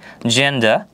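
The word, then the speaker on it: gender: ই লেটারটি দেখতে পাচ্ছি যার মানে দাঁড়াচ্ছে জি এর পরে যদি ই লেটার থাকে তাহলে হচ্ছে জি এর উচ্চারণ জ এর মতো হবে আরো কিছু উদাহরণ যদি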